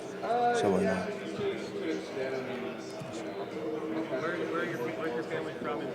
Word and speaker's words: Savaiinaea: it from the first four letters, which is Savaiinaea. That's like the most common one I heard. So, but it's actually pronounced Savaiinaea. Savaiinaea.